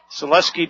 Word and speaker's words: Selesky: Selesky dropped him right at the line of scrimmage. It'll be 3rd down and 20. No gain on the play. We were mispronouncing his name. Dad came over, said Selesky.